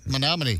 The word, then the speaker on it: Menominee: Menominee.